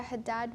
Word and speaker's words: Haddad: them all right so my name is Haddad which is spelled g-h-a-d-a and last name h-a-d-d-a-d what are